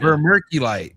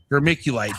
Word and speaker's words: vermiculite: Verculite. Vermculite. Vermiculite.